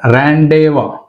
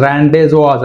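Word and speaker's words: rendezvous: Next Z, ఏమిచ్చాడు ఇక్కడ, ర్యాండేవా, ర్యాండేవా అంతేగాని ర్యాండేజోవాస్ అనకూడదు, ర్యాండేవా. ఎస్ కూడా సైలెంట్ ఇక్కడ, ర్యాండే, ర్యాండేవా, ర్యాండేవా.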